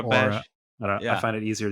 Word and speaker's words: Aurebesh: I do say Aurebesh, yeah. I think Okay. some people say like Aurebesh, like they put a little bit of Aura, a higher like Aurebesh, Aura. Aurebesh.